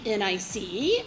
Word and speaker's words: NICE: They are called the National Institute of Coordinated Experiments, also known as the NICE, or if you think about how that is spelled, nice.